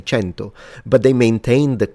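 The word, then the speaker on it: cento: 100 is kenu and in classical Latin is kenum and then in ecclesiastical Latin it becomes kentum. Centum because it's an Italian pronunciation and in Italian we say chento.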